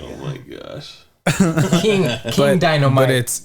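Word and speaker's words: Dinomight: King Dynamite. But it's spelled Dino and then might, like might.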